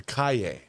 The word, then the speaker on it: Calle: It was I was told it's Sasha Calle is how you pronounce her last name. Calle, yeah.